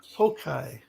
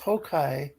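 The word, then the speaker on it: 崩壊: Okay, the Japanese word pronounced Hokai. So apparently, so it's a Japanese word pronounced Hokai.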